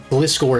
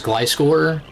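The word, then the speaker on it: Gliscor: This is why you should pronounce Glycore as Glyscore because if you do the same pronunciation thing for Gliggar, it sounds bad.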